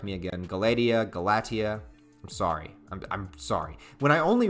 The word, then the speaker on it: Galatea: And I know I keep mispronouncing her name. Please correct me again. Galatea.